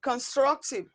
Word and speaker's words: constructive: the first syllable while option a is stressed on the second syllable constructive constructive the correct option